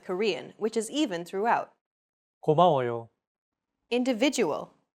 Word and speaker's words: 고마워요: 고마워요. Individual. 고마워요. 고마워요. When pronouncing Korean words, focus on giving equal time to each syllable as you say the characters out loud.